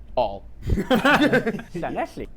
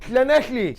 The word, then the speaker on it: Llanelli: Llanelli. I would have said that. Llanelli. Llanelli. Oh yeah, So that's Welsh, Llanelli.